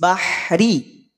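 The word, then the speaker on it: بحر: didahului oleh fathah maka huruf ro menjadi te tebal hadiratal bahr bahr bahr angkat pangkal lidahnya bahr bah bukan bibirnya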